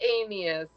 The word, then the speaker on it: Anius: It's Anius, but it's to me, if you look at it, it's like anus.